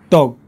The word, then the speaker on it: dog: Dog. Can you hear the difference? Dog. We don't pronounce the G, that's fine, but you want to stretch that vowel sound out.